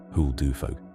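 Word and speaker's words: huldufólk: Say it the Icelandic way if you can. Hulu folk. two syllables of hiding and one of people, which is exactly what they are.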